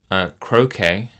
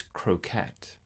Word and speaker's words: croquet: And just prior to that, though, yesterday, I was mispronouncing the word croquet as croquette.